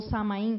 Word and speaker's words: Samhain: Que durante os 3 dias de Samhain, ou Samain, como se fala, né, na Gália e